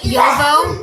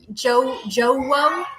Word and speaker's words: Jowo: And like Yovo. A lot of people say Jowo. It's Yovo.